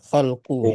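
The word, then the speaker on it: خلقُ: Khalaqa. Khalaqa. Lahu. Khalaqa bukan. Lahu. Itu bukan khalaqa bacanya tadi apa? Khalqu ya. Lahu, Ustaz.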